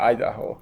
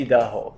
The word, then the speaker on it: Idaho: Idaho Idaho Idaho Idaho yeah Idaho don't say Idaho it's not good he another cold State